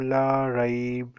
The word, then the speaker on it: لا ريب: I will not say La Raiba, I will say La Raib, okay?